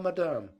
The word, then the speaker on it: madame: She merely said, "Be seated, please, I will tell madame," putting the accent on the second syllable, where Peter had never heard it before.